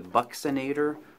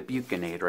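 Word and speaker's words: buccinator: of the cheek and they call it either the Bucks inator or the buek inator I've heard it pronounced both ways if we go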